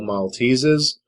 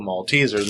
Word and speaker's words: Maltesers: a long time ago i thought they're just called malteses and then i kept hearing uh european youtubers talk about maltesers and i was like are they intentionally mispronouncing that and then i actually got the package and saw that they are actually called maltesers not maltese is um what these are